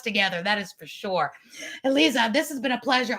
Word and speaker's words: Aliza: go to Clubhouse with it's spelled differently than it sounds. It's Eliza, but it's spelled for those listening, Eliza, Aliza.